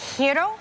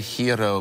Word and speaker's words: gyro: Oh, is that a gyro? See, I would say gyro, but it's actually gyro. Gyro. Gyro. Like year, like the year.